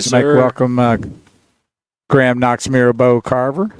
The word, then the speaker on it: Mirabeau: And I spelled the name and said Mirabeau, and you started laughing because that's what it's pronounced.